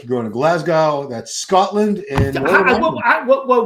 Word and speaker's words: Glasgow: like you going to Glasgow that's Scotland and whoa whoa whoa brunch Warren said Glasgow how do you say it Glasgow Glasgow Glasgow Glasgow Glasgow just forget about the W Glasgow oh Glasgow well